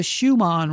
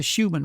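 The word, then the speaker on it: Schumann: And it's called the Schuman resonance. It can also be pronounced the Schuman resonance. Either one's correct.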